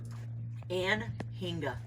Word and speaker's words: Anhinga: How do you pronounce his name again? Anhinga.